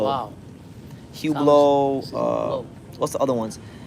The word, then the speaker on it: Hublot: you got hublo you got uh hublo yeah hublo you know want hublo no it's spelled like Hublot but it's pronounced huo wow huo uh what's the other ones there's a whole